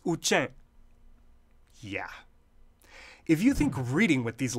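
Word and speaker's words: དབུ་ཅན: the Tibetan script, how do you think it's pronounced? Any clue? Time's up. It's Uchen.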